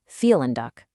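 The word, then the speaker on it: vielen Dank: See that v in felin? It's not a v sound like in very in German. It's a soft f sound. So you're actually saying feel and duck.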